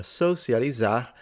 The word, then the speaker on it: socializar: Pessoas de todas as idades aproveitam para socializar, Para socializar, she did not pronounce the R at the end like the previous guy.